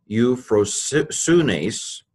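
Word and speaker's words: εὐφροσύνης: Egnorisasmoi, hodus soes, pleroses me, euphrosunes, euphrosunes. This could be pronounced eu, just like this, eu, or you could pronounce it you, if you want to make it easier.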